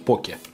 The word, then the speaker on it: поке: фалафелем чему я говорю ударение на первый слог надо же так вроде правильно говорить поки они попки ok и